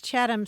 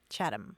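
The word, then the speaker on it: Chatham: not agree to the chadam house rule right you'll be spreading the the term next thing you know yeah and that's chadam c h a t h m chadam house well I'll make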